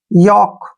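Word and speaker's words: yolk: है ना योक क्यों क्योंकि के से पहले एल आया है और जब भी के से पहले एल आएगा वहां पर एल साइलेंट रहेगा अब रूल नंबर थ्री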